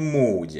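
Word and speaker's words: Moody: कहा जाना चाहिए कि वह मूडी नहीं, बल्कि मूडी है। Raymond मूडी. यह उसका अंतिम नाम है और इसका उच्चारण इसी तरह किया जाता है।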